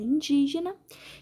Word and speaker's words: indígena: E a letra A pergunta: na palavra indígena, a sílaba tônica é indi. A sílaba mais forte é o di. Vamos lá, ó. Última, penúltima, antepenúltima. O di é a antepenúltima sílaba.